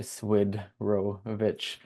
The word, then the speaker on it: Swidrovich: And my Ukrainian dad's last name, you just have to slow it down to Swidrovich, and it's easy to say in that regard.